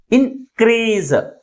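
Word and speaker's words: increase: కాబట్టి primary stress ని second syllable ముందు ఉంచాం ఇన్ క్రీజ్ ఇన్ క్రీజ్ ఏది ఎక్కువ ఫోర్స్ గా పలుకుతుంది క్రీజ్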